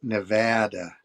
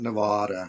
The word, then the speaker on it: Nevada: Yes, we are meloian, but it's pronounced Nevada. Nevada. Nevada. Yes. Not Nevada.